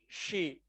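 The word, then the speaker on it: χ: चाय नहीं होता, इसको स्पेल तो सी एच आई करते हैं, पर ये प्रोनाउंस होता है शी। इसको प्रोनाउंस अपन शी करते हैं, कभी कभार ची भी बोलते हैं, है ना। अलग अलग कंट्री के अकॉर्डिंग अलग अलग प्रोनाउंसिएशन होता है इसका।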